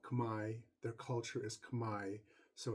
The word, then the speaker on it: Khmer: language is actually called Kamai their culture is Kamai so it's pronounced Kamai Kamai Rouge is a French term um meaning